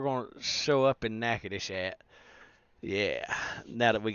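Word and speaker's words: Nacogdoches: is we can take a job down in Nacadish. Okay. So, that's spelled Natosious, but it's actually pronounced Nacadish.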